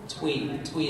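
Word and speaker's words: Thuy: Twee is how you pronounce it.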